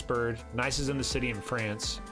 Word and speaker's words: Nice: sort the whole thing it's pronounced nice by the way cool